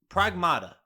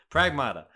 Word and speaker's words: Pragmata: Michael, Pragmata. I keep saying it wrong, but I believe that's correct. Pragmata's right. Pragmata.